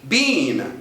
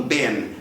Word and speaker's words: been: dentro de uma Vagem este Bean pode por sua vez ter exatamente a mesma pronúncia do particpio passado do verbo to be da terceira coluna de to be been I Have been there I Have been here been here been na pronúncia inglesa com essa vogal mesmo os americanos às vezes trocam a vogal e mandam Ben I Have been there